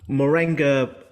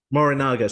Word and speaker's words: Morinaga: yeah so yeah let's talk about that so Moringa nutritional Foods is how you pronounce them um more in Naga morinaga sorry right it trips me up too sometimes